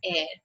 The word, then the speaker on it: heir: It's not higher. It's not uh, uh, something else. It is pronounced as heir.